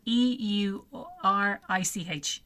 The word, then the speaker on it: Eurich: No, it's spelled E U R I C H, Eurich.